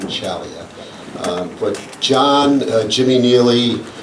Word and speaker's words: Ciaglia: back in the day it was CLIA how we pronounce his name and we were corrected along the way is John chalia um but John Jimmy